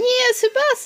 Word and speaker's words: Tsubasa: Plus it rhymes with Mufasa, so you can't go wrong with something that freaking rhymes with Mufasa.